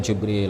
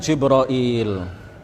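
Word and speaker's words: جبريل: adalah malaikat Hai Malaikat Jibril Alaihissalam kisah juga kita mengatakan jibroil ya bisa juga kita mengatakan jabril atau Jibril atau jibroil atau ada ada juga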